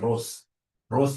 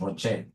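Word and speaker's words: ROCE: whenever I see Rocher please don't pronounce this as Ros is my sister Ross is your mother professionally we pronounce this as Rocher whenever I see this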